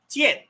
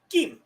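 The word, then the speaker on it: 剑: When I brought up the character for sword, in Mandarin, that is pronounced Tian. You have a dropping vowel, fourth tone. T, N, N. In Cantonese, which is spoken in Hong Kong and in some of the lower parts of China, that is pronounced Kim. That has a third tone. So it's going to E, Kim. It's going to drop and rise.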